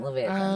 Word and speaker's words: Leviathan: Because then you have the I can't pronounce it. The Leviathan. Leviathan, there you go.